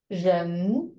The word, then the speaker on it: 人: Ren. Jen. It's from down to up. Ren.